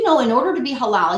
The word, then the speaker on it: halal: It's called halal. And it's spelled H-A-L-A-L.